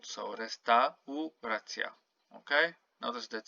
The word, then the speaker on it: restauracja: So here you don't say restauracja like in English. You have to pronounce each and every vowel. So restauracja.